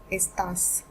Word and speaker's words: está: Again, the stress is on A since we have this accent.